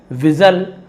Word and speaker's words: whistle: जैसे कि विजल, विजल यानी सीटी होती है, जिसका स्पेलिंग होता है WHISTLE, है ना। वहां पर भी हम विस्टल नहीं बोलते, वहां पर भी एल को नहीं पढ़ते।